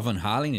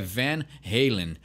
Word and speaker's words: Van Halen: FM Rei e né a gente fala Van Halen não tem problema nenhum mas o jeito correto de pronunciar e vem heilen então ele é um